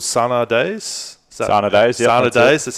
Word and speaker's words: Sana Days: Sana Days, that's how you pronounce it.